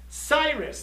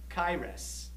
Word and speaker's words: Cyrus: Cyrus, that's how we say it in English. But in Hebrew, there's no soft C. It's a K sound. Same with Latin. Caesar is Kaiser in Latin. Huh? And in Hebrew, it's not Cyrus, it's Kairos.